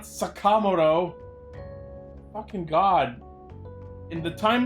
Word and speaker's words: Sakamoto: It's Sakamoto, not Sakamoto.